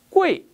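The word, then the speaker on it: 贵: 비싸다란 말, 우리말 한자 귀할 귀자를 사용하는데요, 중국어의 발음을 살펴보면 꼬이 이렇게 읽습니다. 여기서 잠깐 발음 규칙을 살펴본다면 자음 뒤에 우이가 오게 되면요, 그 사이에 뭐가 빠졌다? 에가 빠진 거라서 표기는 우이라고 하지만 읽을 때는요, 그 사이에 빠진 에를 살려서 우에이 웨이라 읽는 게 바람직합니다.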